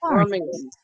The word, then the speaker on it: Birmingham: Oh, and Birmingham over there is pronounced Birmingham.